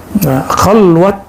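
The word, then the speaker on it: خلوت: Khalwat dar anjuman, bukan khalwah ya. Orang Persia tidak bisa baca dalam pelafalannya, walaupun di hari-hari bisa.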